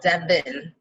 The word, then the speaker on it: Dev'n: It's said how it's spelled, Devin.